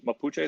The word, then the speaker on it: Mapuche: the Mapuche are generally, or Mapuche, is Mapuche the right way to say it? Yeah, right. Mapuche, yeah, Mapuche. Mapuche, right?